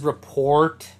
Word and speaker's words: rapport: those is Rapport building I know it says rapport but if you've never seen the word before it's Rapport that's how you pronounce it but Rapport building this is where